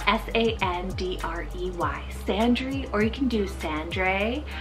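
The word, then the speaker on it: Sandrey: too cool then we have sandri spell s-a-n-d-r-e-y sandry or you can do sandra i think that would be a handsome kind of pronunciation alternative and it's a habitational name from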